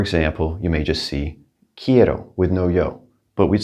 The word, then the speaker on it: quiero: going to say quiero quiero now the queue sounds like a k and i want you to pronounce every single vowel quiero all right just